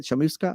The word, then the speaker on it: Chamusca: Is that how you say it? Chamusca? Yeah, that's right.